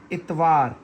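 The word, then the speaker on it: اتوار: जोड़ के आप पढ़ें अलिफ ते इत वाव अलिफ वा इत वा रे साकिन इतवार रिपीट करें।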